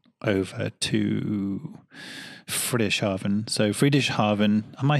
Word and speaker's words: Friedrichshafen: from Romans horn over to British oven so free dish Harvin am I saying it right Friedreich's Harvin Friedrichshafen yeah it's hard to say that one so